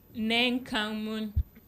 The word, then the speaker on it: Neng Kang Moon: Neng Kang Moon, 10 letters, 3 syllables, and it's a Nigerian name.